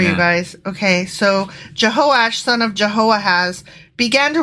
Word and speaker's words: Jehoash: I mispronounced that. It's Jehoash.